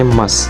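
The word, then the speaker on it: ます: adalah bentuk emas tulisannya bentuk masjid tapi kita bacanya emas ya ini berfungsi untuk menyatakan kesopanan Halo Mas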